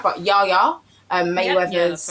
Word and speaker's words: Yaya Mayweather: But Yaya Mayweather's.